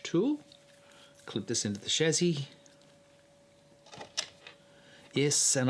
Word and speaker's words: chassis: clip this into the Chazzy yes and I say shazzy not chassis or however you pronounce it and um here